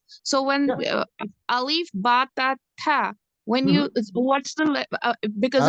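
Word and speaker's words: ث: Okay, so the difference between the so this one is pronounced tha, whereas this one is pronounced sa, as in English, right?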